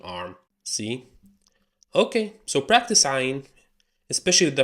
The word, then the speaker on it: عين: Okay, so practice ayn, especially the pronunciation. Do your best. Try to express disgust, or try to sound like a monster if you want. Just try to make that sound from your throat.